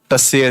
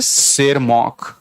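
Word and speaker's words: Tschermak: हिंदी में इसलिए लिख रहा हूं क्योंकि टी साइलेंट है इनके नाम में, तो कहीं पढ़ते पढ़ते इनको टसेर ना कर देना। This is नॉट टसेर, this is शेरमॉक।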